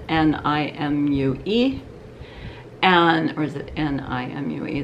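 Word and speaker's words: Nimue: on to them by a company whose name is spelled n-i-m-u-e and or is it n-i-m-u-e the n-i-m-u-e and i hear people calling it nim away nimoy and i so i wrote to her and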